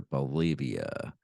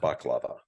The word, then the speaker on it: baklava: uh, biscuits or their Bolivia, containing too many shards of glass. Eventually, his It's pronounced baklava.